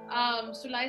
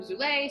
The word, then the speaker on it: Sulai: And for the sake of confusion, Sulai is how her name is supposed to be pronounced, but I also call her Zulay.